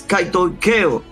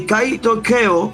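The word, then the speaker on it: κατοικέω: Lo voy a decir bien al paso. Es kaitoikeo. Y kaitoikeo, y lo estoy pronunciando incluso de manera dominicana, para que se entienda, significa algo que se aloja permanentemente.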